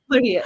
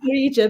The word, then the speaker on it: Marija: Maria. Yeah, I Mar- write it Maria because that's Mar- how we write in my country. So, but everybody calls me Aha, but Maria. the J is silent, yeah?